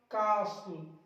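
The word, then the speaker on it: castle: अब देखिए LE से पहले, LE से पहले वाला टी भी साइलेंट रहेगा, कासल, Russell, हसल, वसल, wrestler, wrestler यानी कि पहलवान, रेसलर।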